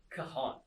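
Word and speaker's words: cajón: so c a j o n so it's pronounced as kahan it's the spanish word for box or crate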